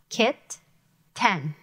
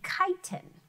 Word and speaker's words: kitten: If I separated the syllables here, it'd be, oops, sorry about that. It'd be chitin. Let me close that down. We want it to be kitten.